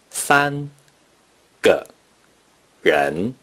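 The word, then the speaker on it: 三個人: Therefore, three persons in Mandarin Chinese is pronounced san ge ren.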